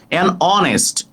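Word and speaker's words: honest: অনেস্ট অনেস্ট হস্ট অনেস্ট অনেস্ট উচ্চারণটা অ হয়েছে তাই এন হবে আবার এান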